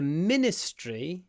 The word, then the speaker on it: ministry: she works in the ministry of Defense longma Ministry not Min Min Min the it almost disappears Ministry the ministry the